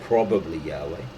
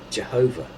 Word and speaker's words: Jehovah: In course of time, the true pronunciation of the divine name, probably Yahweh, passed into oblivion, and YHWH was read with the intruded vowels, the vowels of an entirely different word, namely my Lord or God. In late medieval times, this mispronunciation became current as Jehovah.